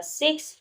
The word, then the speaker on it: Si: Si, pronounced like sir with a slow exhale, which is associated with the lungs.